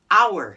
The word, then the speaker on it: hour: get what we get hour no h what yeah why put an h i don't know but the h is silent shh no h got